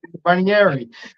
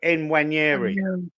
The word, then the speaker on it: Nwaneri: Nwaneri. Yeah. You say N, you've got to say N, because it starts Nwaneri. Nwaneri.